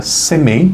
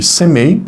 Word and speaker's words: Semei: o nome dele era Semei, imagino que é assim que pronuncia, S-E-M-E-I, e ele vinha,